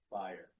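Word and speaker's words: Bayer: one com for Bryce his last name is pronounced fire not Vader and it is interesting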